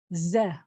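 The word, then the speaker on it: זֶה: This is a very common word, and this word is this. Ze. Ze. That's how you say this.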